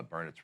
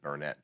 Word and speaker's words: Burnet: 20 some years ago i called it burnett too because that's the way it's spelled yeah but i need to get around folks who live there they get there they get a little irritated yeah it's burn it right all right and i